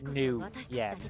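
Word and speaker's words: nuyen: It's spelled N-U-Y-E-N, but it's, new yen.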